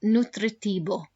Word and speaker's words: nutritivo: write down nutritivo and let's practice that that v as a sound nutritibo good and then finally